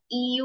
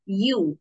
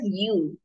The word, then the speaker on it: ewe: on the pronunciation of this word it's not EU or E it's youu it's pronounced as youu this is the correct pronunciation of this word